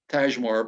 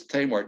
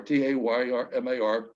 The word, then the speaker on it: Tajmar: The Tamar is spelled Tajmar. So if you try, I was pronouncing it Tajmar, but it's Tamar, Taymar.